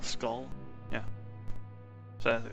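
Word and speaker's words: Skaal: How it's pronounced. S-K-A-A-L, Skull.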